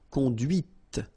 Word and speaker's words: conduite: And that's when you hear the difference between conduit, because remember, final T is not pronounced, conduit, here, and then the feminine, conduite. Okay, so here you can listen to this t, t, okay, conduite, right?